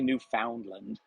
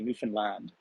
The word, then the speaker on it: Newfoundland: So Mark was having a little trouble pronouncing because they don't say Newfoundland and say Newfoundland. So the emphasis is at the end of the term.